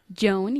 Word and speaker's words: Joan: No Joanne, sino Joan. Joan is more serious than her sister.